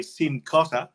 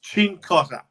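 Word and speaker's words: Cincotta: pronounce Italian names and you say sim Cotter it's chinkotter otherwise don't claim that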